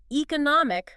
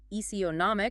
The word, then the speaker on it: economic: Both can start with e or eek sound. Eonomic or economic. Mhm. Depends on accent but the meaning is distinct.